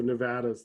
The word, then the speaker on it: Nevada: We say Nevada. He was from Arizona. Yeah, he's from, so Nevada's the proper way. At least for Nevadans.